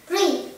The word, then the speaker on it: three: Con đừng đọc rõ chữ sa ra, nó chỉ là âm gió thôi. Sa. Three. Three.